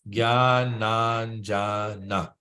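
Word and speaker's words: ज्ञानाञ्जन: a word, they say break it down into syllables. So it's easy to pronounce the word. So we can do the same here. We say Jnananjana.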